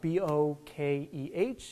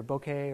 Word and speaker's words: bokeh: community you might see it as the word b-o-k-e-h and pronounced either bokeh or bokeh depending on how you actually want